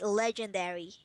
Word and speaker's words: legendary: Pronounce the G. Legend. So the word is legend, and you'll be adding airy at the end. So pronounce legendary. You liaise D and A.